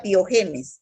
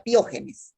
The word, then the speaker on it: piógenes: No diga piogenes, diga piógenes, ¿ya? Piógenes. Acento en la O, piógenes, ¿ya?